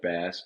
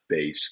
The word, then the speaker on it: Bass: every morning glad you say my name right bass and not bass got it got it